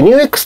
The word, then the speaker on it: NUX: ですこちらのアンプ nux と書いて newx と読みます最近ねエフェクターと